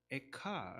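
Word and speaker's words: אֵיכָה: 도술 픈 노래이지만 또 히브리어로 도 발음은 에카 라고 합니다 아이의 카이 형식은 보통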